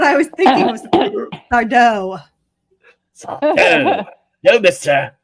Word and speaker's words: Sardo: My name's Sardo. No mister. Accent on the dough. On the dough. Yes, you know what? Right? That's exactly what I was thinking was Sardo. Sardo.